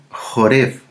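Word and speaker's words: חורב: eh sale con la palabra hebrea jorev jorev jorev que se escribe con la letra het res y bet y jorb jorb significa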